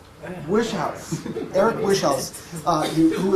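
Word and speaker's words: Wieschaus: Nobel Prize winner and he told me how to pronounce his name and I'm going to blow it um weel is that correct no he will correct me when I uh um wish house wish house Eric wish house uh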